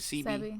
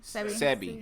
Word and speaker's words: Sebi: Is it CB? Sebi.